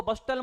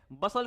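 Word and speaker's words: bustle: बिग बसल इसको बस्टल मत बोलना भाई। टी साइलेंट है। बसल क्या होता है?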